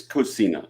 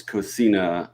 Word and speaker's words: Cocina: Cocina I think it's Cocina I think it's Spanish it's Cocina and in Italian it's Cucina almost cognates in there but